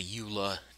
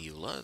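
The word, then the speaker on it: EULA: don't know about the Ula that's um and it's always been in in the Minecraft end user license agreement eua Ula um not everyone pronounces it as a word um it said basically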